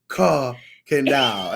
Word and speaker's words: Kirkendall: Kirkendall. Ain't no Kurt in there.